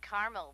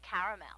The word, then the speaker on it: caramel: I'd like it in Carmel actually you said Carmel when it's pronounced caramel can't we just call it yellow no everyone